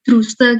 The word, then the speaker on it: druse: Makanya dia oh ya, tulisannya itu druse gitu ya, drus, bacanya drus, tulisannya druse.